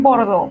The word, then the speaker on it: Bordeaux: Si usted ve E, A, U, usted va a pronunciar O, como en Bordeaux.